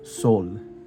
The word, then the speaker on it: Sol: It is pronounced soul with like an accent. So it'd be, let's see, it'd be like sol, like that, which means sun in Spanish.